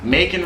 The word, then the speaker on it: Macon: Macon rhymes with bacon, so you can imagine how exciting of a place it was.